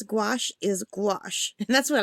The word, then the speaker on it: gouache: Gouache. It does look like gouache, right? Because the goo and the ash, like goo ache. It's like earache, goo ache.